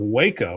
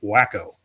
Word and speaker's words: Waco: Uh, Arty says, "The first time I heard of Waco was on One Day at a Time, and the joke was that Schneider pronounced it wacko."